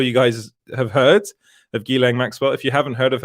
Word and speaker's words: Ghislaine Maxwell: Now, that's how I pronounce her name. A lot of people pronounce it differently, but I'm pretty sure you guys have heard of Ghislaine Maxwell.